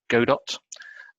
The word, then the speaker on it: Godot: called the i said the pronounced godot or godot and i'm quite interested